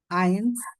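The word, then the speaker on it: eins: জুই না সো আই যে বলছিলাম ই আই থাকলে আই এর মত উচ্চারণ হবে যেরকম আইনস হইছে আইনস হইছে কেন কারণ ই আই একসাথে আসছে ওই যে অপর পেজে আমরা দেখে আসছিলাম ই আই হলে আই হবে আইনস কিরকম লাস্টে আসলো সোয়াই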